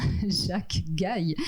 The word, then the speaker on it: Jacques Gaille: Nous avons également Jacques Gaille, donc je viens d'avoir la confirmation que l'on prononce bien Jacques Gaille, effectivement.